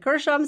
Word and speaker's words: Gershom: i think i might have said that wrong gershom and eleazar g before an e is usually a soft g and this i looked at the pronunciation it said gershom so if i'm saying it wrong you can